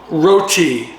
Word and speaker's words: roti: Tonight, we're going to try Trader Joe's roti with Thai red curry. The roti is pictured down here. It's the flaky layered flatbread from India. Roti, it's pronounced roti.